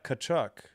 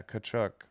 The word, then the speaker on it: Tkachuk: The T is silent, yeah.